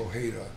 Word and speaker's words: Ojeda: my phone will say pronounce my name Ojeda like the J like the h like Jose yeah nobody says Jose